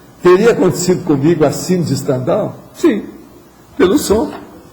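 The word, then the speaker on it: Stendhal: o povo fala lá então acaba pronúncia sendo standal mesmo vocês sabe que escreve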